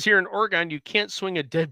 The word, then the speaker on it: Oregon: You say it the same way you would say Michigan.